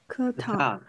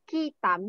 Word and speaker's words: ketam: Ketam. Ketam. Yes, ketam. Okay, almost student always to pronounce kitam, not kitam, ke. Ketam, alright? This is a ketam, not kitam.